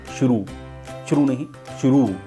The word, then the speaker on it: शुरू: तो मसलन गुरु ये छोटे ऊ की मात्रा है, अगर हम इसको रू को बड़ा बोलेंगे तो जैसे शुरू में रू बड़ा आता है तो इसको बोलेंगे हम शुरू।